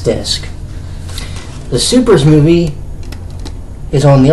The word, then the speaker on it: SuperS: This is Supers. You know, I always thought it was Super S, and it's actually pronounced Supers.